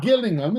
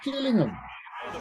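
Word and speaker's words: Gillingham: golden it's not it's not Gilling them is it it's jilling him the the toour is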